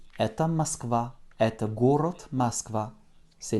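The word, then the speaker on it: Москва: qui est donc là la façon de dire moscou en russe nous écrivons m o s k vais à avec un accent tonique sur le à ce qui va réduire notre eau en petit à masquer vas y je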